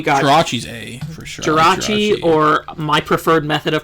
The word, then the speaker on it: Jirachi: Jirachi, or my preferred method of pronouncing it is Jurakai.